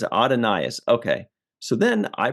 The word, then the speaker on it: Adonais: said in one thing it said it's pronounced just like Adonis I'm like that's pretty